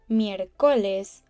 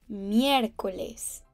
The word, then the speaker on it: miércoles: Next up, we have miércoles. Note the accent on the E. It means we have to place special emphasis on that letter when pronouncing it. It basically lets us know that it's not miércoles or miércoles, but miércoles, meaning Wednesday.